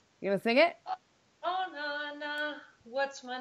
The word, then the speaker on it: Oona: They pronounce it Oona because of the double O. So you get called Oona quite a lot, and it's Oona.